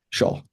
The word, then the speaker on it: Xiao: Xiao, is that how you pronounce it? Shaw. Yeah.